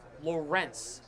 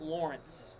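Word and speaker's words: Lorentz: I've been corrected. His name is Lawrence, not Lawrence. Lawrence. It's spelled L O R E N TZ.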